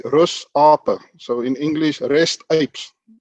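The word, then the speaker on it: Rusape: a teacher at school we pronounce it afrikaans way rus apa so in english rest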